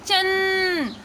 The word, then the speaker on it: चंचल: उसी प्रकार से और भी शब्द हैं, जैसे कि चंचल, तो यहाँ पे क्या आ रहा है चन, अन का साउंड आ रहा है चन चल।